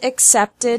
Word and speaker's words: accepted: has two syllables and accepted has three syllables Edie is pronounced like